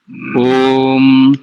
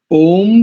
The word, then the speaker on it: ओम: आरंभ कीजिए एक बात दूसरी ओम शब्द का उच्चारण प्लुत में करना चाहिए मंत्र से पूर्व जब